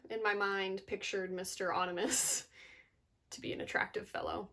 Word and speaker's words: Onimus: Onimus. His name is pronounced Onimus.